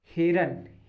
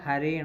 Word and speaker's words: हरिण: अगला देखिए, हिरन, हिरन नहीं होता, हरिण होता है।